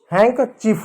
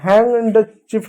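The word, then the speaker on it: handkerchief: हो जाएगा हैक चीफ देखो यहां पर एन और डी है ना तो यहां पर डी साइलेंट होगा हैक चीफ होगा हैंग चीफ नहीं होगा हैंग चीफ होगा।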